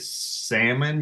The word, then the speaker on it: Salmon: Look, if you're pronouncing it salmon, you are spelling it correctly.